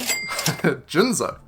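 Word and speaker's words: Jinzo: Jinszo. That's how you pronounce it.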